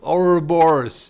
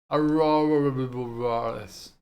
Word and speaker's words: Ouroboros: Ouroboros. Yes, that's how you say it. Ouroboros.